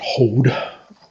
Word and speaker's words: Hod: Next one is Hod, or I suppose technically you really ought to pronounce it Hod. I never I don't know, I learned to pronounce it the other way, and I've gotten used to it.